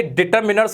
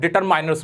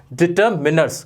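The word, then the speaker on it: determiners: पहली बात, ये डिटरमिनर्स होता है, डिटरमाइनर्स नहीं होता। बड़े बड़े टीचर्स, बड़े इंटेलिजेंट स्टूडेंट इसमें गलती करते हैं, इसको डिटरमाइनर्स बोलते हैं, जो कि बिल्कुल गलत होता है। इसका करेक्ट प्रोनाउंसिएशन होता है डिटरमिनर्स। क्या होता है? डिटरमिनर्स, ना के माइनस।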